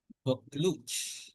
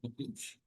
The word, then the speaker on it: Buccleuch: tutor the young Duke of, how do you pronounce this one? Buccleuch. So Buccleuch.